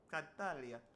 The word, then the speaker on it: Tartaglia: Tatalia tatalia.